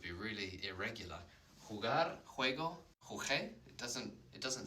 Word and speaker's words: jugué: When it's followed by an O, it's a hard sound, like in jugar, g-g-g, jugar, juego, jugué. Go, yeah, like gol, when someone scores a goal.